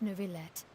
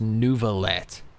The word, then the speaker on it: Neuvillette: Ain't no way his name is actually pronounced Neuvillette. All this time in my head, it's been Novaye. Novaye. Oui, Novaye. Neuvillette?